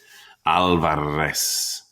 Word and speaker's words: Alvarez: our name to myself opening my mouth wide for the organ blast of the a trilling my tongue for the drum roll of the r Alvarez how could anyone get